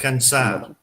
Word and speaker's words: alcanzar: All right, so breaking it down to syllables again. So first off, we have, if you guys want to run through this with me, we have al as our first syllable. Standard al. Al. Al. Owl. Perfect. Next we have can. Much like the British or the English can, but just let's soften that a little bit. Can. Ken. Ken.